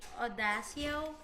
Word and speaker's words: Audacio: Just let me know which other Coffee Audacio. Perfect. In that case, you pronounce it as coffee audacio.